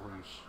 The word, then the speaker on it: Rush: And it's Roosh. Yeah, that's how they've been pronouncing it, Roosh.